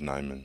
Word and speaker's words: Nijman: but you know my the j is silent so it is nyman josh neyman bill huber yes is